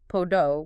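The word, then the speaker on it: πόδα: Yeah, imagine your voice going slightly up, like on podo, meaning foot. The stress and rise is on po. Pronounce podo with rising tone. Podo.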